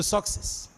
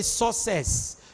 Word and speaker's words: success: books are hooks to success remember you don't say access access I want to access a place you say access access you don't say sucess you say success success the K must be pronounced you say accept acceptable